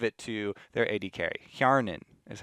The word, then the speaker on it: Hjarnan: Hjarnan is how you say that.